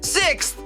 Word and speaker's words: sixth: O primeiro som é sexo a gente coloca a língua entre os dentes para fazer o som do th. Agora vocês repetem sixth.